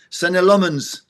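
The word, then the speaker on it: Senne Lammens: And let's not forget our new goalkeeper, Sen Lmens.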